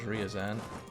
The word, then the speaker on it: Ryazan: well share that everybody who told me to pronounce it as Ryazan his troops are probably all over in China